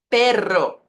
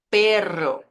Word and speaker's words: perro: arroz arroz Tierra Tierra uma vibração mais forte quando eu tenho os dois R juntos e muita atenção em